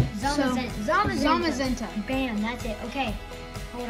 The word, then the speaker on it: Zamazenta: Full Art Zacian, Cinderace, Mega Pidgeot, Zazamenta. Okay. I know how to say it. It's just, I forgot. And also, Zamazenta.